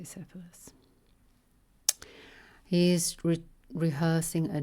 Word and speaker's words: Cephalus: Cephalus, I see the or I I near the English is pronounced the Greek is spelled with a K, Cephalus. Cephalus. That but let's just say Cephalus.